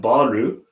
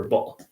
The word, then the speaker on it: ball: so here you have baru which would be more like a japanese pronunciation so instead of r u you want a l soccer ball so p-a-l-l very good